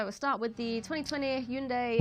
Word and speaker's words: Hyundai: 현대 발음이 안 되니 왜 후한다이라고 그래? Get across on the advert. It's Hyundai, and I'm sorry everyone.